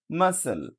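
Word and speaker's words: muscle: না এরপর দেখেন এম ইউ এস সি এলই মাসেল মাসল মানে পেশি মাসেল ওকে এরপরে যেটা আমি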